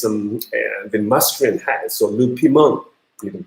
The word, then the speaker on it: piment: Le piment, piment is like hot chili or something. So le piment, and you don't pronounce this one. So in French, so le piment.